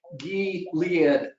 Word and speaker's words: Gilead: According It's to not MSNBC, it's pronounced Gilead.